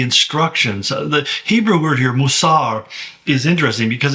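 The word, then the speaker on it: מוסר: The Hebrew word here, Mousar, is interesting because it kind of rhymes with guarded well further in the passage, which is natsar.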